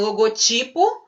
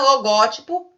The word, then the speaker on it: logotipo: sílaba tônica seja diferente é o caso aqui né o logotipo paroxítona logótipo proparoxítona ok pessoal tá certinho